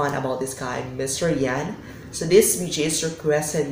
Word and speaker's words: Jann: my comment section that it's not Chad it's Yan so I also thankful